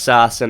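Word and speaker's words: Sasson: In the third, the Ducks had some chances, but then it's Max Sassin. I'm going to call him Sassin because that's the way that John Shouse pronounces it.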